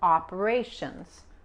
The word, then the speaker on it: operations: Recuerden, tenemos videos aquí en la página, también en el canal, el T-I-O-N, típicamente se pronuncia como la S-H, Head of Operations, y la Z, esta S se pronuncia como una Z.